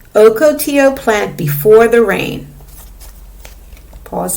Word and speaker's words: ocotillo: save water let's look at the caption it's pronounced ocotillo ocotillo plant before the rain pause and read page